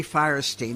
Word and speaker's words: Fierstein: Harvey Firestein, that's how his mother taught him to pronounce it.